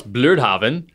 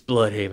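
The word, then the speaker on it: Blüdhaven: it's spelled blood haven oh which I always pronounce bluraven because it's got a u and an uml right and then later you know I hear you know more people in the nurse F like it's blood Haven I'm like oh no it's not it's blood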